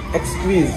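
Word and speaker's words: Exquise: इसको प्रोनाउंस कैसे करते हैं? एक्सक्वीज, एक्सक्वीज, E-X-Q-U-I-S-E।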